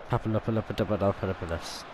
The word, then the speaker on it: Papadopoulos: Okay, what on Papadopoulos? Papadopoulos, even. Papadopoulos. Yeah, it's pronounced like that.